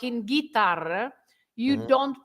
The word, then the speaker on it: guitarra: say guerra because it's a G-U-E, or guitarra, G-U-I.